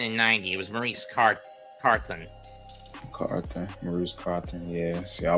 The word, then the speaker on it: Carthon: Maurice Carthan in 86. Or Carthon, or however you pronounce it. And he was also there again in 90. It was Maurice Carthen.